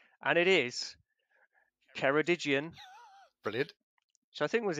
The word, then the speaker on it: Ceredigion: Watch out pronunciation, and it is Ceredigion. Brilliant. Which I think was in there last month as well. But Ceredigion, thank you very much.